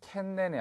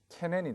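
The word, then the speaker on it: 懸念: 자, 걱정이라는 의미가 되겠는데 캔넨이 아니라 캐넨이 되겠죠. 발음에 주의를 하시기 바라겠습니다.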